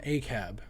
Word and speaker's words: ACAB: lot lately and it's a term a cab it's spelled ACAB and it stands for